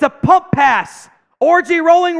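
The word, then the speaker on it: Orji: Alex orgy Subs in everyone spam orgy that's how it's pronounced Chris does not believe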